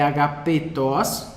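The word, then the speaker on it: ἀγαπητός: Enfim, então é agapetos. Se você quiser, eu vou até colocar um acento circunflexo aqui, em homenagem para você lembrar que ele é um E fechado, certo? Agapetos.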